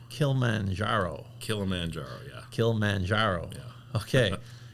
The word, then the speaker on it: Kilimanjaro: Am I pronouncing that right? Kilimanjaro. Kilimanjaro.